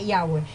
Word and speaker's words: Yahweh: Sí, así, y se pronuncia Yahweh.